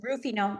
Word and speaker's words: Ruffino: Perfect, just like the wine. Ruffino.